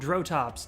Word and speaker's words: Drotops: I want to say it's called Drotops, D-R-O-T-O-P-S. I think that's right.